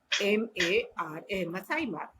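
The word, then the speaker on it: Maasai Mara: हाँ, मासा मीरा, voted as one of the 7 wonders of the MASAIMARA, मसाई मार। क्लियर है बेटा? सेकंड है, फिर से मैं इसको स्पेलिंग बोल देती हूँ, MASAIMARA, क्लियर है बेटा?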